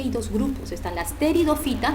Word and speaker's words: pteridofitas: Y aquí hay dos grupos, están las pteridofitas, no se pronuncia la P, ¿ya?